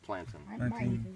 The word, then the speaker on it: plantain: it's true Fern it's it's spelled like plantain but it's pronounced plantin I've got a lot